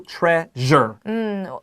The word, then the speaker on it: treasure: And that su is 那个 zh 的发音。But how do you make that? Well, it's actually really easy. It's sh, sh. 然后你加一个 j 的发音 treasure.